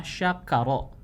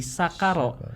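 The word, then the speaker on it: شكر: Jadi karena kita kadang suka enggak nyadar ya, misalkan kita membaca dalam lafaz Al-Qur'an itu ada kata syakaro. Syakaro. Tapi kita bacanya pakai sin, jadi sakaro.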